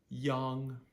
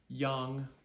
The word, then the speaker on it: yang: n g is pronounced Yang Yang that a goes back to being an A so we have I